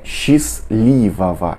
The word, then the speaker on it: счастливого: A próxima dica é você não pronunciar o T, que vem depois da letra S, né? Счастливого. Счастливого. Счастливого. É como se a gente não pronunciasse mesmo esse T. Счастливого. E a última dica é pronunciar a letra G no final com som de V.